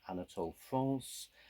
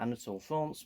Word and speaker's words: Anatole France: i vaguely knew and i guess it's probably pronounced more like anatole france a french author was